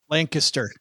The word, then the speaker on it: Lancaster: Oh, well, if you're from the area, it's Lancaster. Lancaster. Lancaster. Sorry. It's you really have to like close your jaw and just don't pronounce all of the consonants.